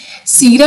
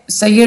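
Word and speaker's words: سير: सीर से ठीक है सैयर नहीं इसको वैसे सीर बोलेंगे वैसे अरा लगे होते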